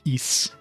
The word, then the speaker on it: Ys: turbog graphic CD ones they actually called it East it's like all right this is the official pronunciation cuz they said it in game I